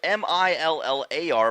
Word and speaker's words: Millar: It's spelled M-I-L-L-A-R, but it's not Miller, it's Millar, just for those curious watching on YouTube.